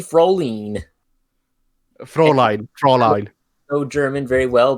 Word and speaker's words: Fräulein: So, basically, Froline. How do you pronounce that, Abby? Fräulein. Fräulein.